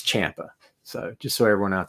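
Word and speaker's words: Ciampa: also Champa Champa okay everyone pronounces it wrong but I remember a long time ago years ago he had put on his social media somewhere like a correct pronunciation of his name so it's Champa so just so everyone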